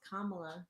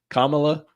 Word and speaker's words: Kamala: It's Kamala. You got to say it right. Kamala.